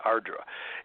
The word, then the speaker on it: Ardra: The North Node was in a strange lunar mansion called Arudra. Now, some people pronounce that Ardra.